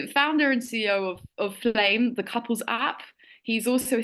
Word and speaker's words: Flamme: of is it flam how do you pronounce the name anit just call it a flame there's a story behind that as well just play okay but with two M's just kind of like plum because you got a bit of French in there as well uh founder